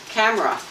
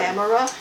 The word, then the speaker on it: camera: Camera and Americans say camera. It's a three syllable word. Camera.